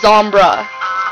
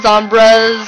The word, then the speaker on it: Zombres: And I did want to say that my username, just in case people are confused and they don't know how to pronounce it, is Zombra. Okay, not, you know, you don't Zombres or Zombre or whatever.